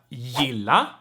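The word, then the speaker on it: gilla: in swedish right but in front of soft vowels it's pronounced like right like the swedish j right so for instance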